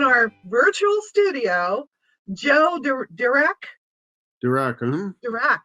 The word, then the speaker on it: Dirac: Dirac, yes, I spelled that. I pronounced that right.